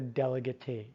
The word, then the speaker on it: delegatee: is the delegate or sometimes you'll see people pronounce it or add an e to it and call it the delegatee alright so that is